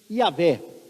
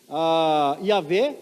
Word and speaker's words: Yavé: Então, Yavé é a pronúncia possivelmente mais próxima. Outros acreditam que fosse Jeová, ou Jeová, ou Javé, mas o que importa